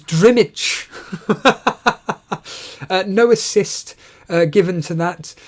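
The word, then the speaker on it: Drmić: That's how you pronounce it, Penguin. It's Drimich.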